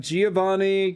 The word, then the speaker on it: Giovanni: Giovanni can be pronounced with the hard G. They changed it a while ago, and then you could also say the J.